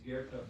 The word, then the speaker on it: Goethe: His name is not spelled like it sounds. It's Goethe, but it's Goethe.